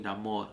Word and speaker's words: Namor: his his name Namor because it will forever be Namor no name throw that Accent on there baby because I love